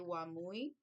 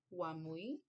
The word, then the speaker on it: wamui: So you'll see here one phrase come let's go and then in menday you would say wamui I believe that's how you may pronounce the word is spelled m ui mui wamui um let's go lots